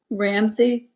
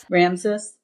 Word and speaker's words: Ramses: Um, I and just thought that surprisingly, Ramsey, is that how you say his name? Ramses.